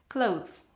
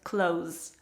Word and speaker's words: clothes: th followed by s clothes and if you struggle to pronounce it in this way some dictionaries already give another pronunciation just close just z at the end for example the oxford